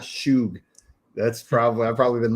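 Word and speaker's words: skhug: realizing now that uh that sauce at cava that is spelled s-k-h-u-ug is probably not hug it's probably skoog Le all over that it's probably not shoog that's probably I've probably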